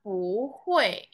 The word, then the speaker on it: 不会: Kalau ditambah pu ya, jadi bacanya pu hui.